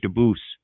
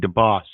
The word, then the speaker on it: Dubois: How many times does the guy have to tell her his name is Dubois? She still keeps calling him DeBoss.